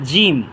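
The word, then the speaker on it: ج: এটা উচ্চারণ করি বা এ হরফটার নাম হচ্ছে জিম জিহ্বার মাঝখান তালুর মাঝখান থেকে উচ্চারণ করি তিনবার উচ্চারণ করি ইনশাল্লাহ জিম জিম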